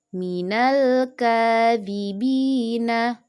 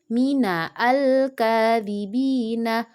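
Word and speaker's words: مِنَ الْكَاذِبِينَ: Minal langsung ke lam sukun, bukan dibaca mina al kadhibina. Bukan ya, Nak, tapi alifnya tidak dibaca. Jadi yang benar cara membacanya minal kadhibina.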